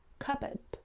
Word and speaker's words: cupboard: you think well we actually say cupbo CB cupboard so the p is actually silent as well